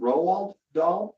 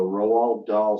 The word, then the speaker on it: Roald Dahl: Roald Dahl?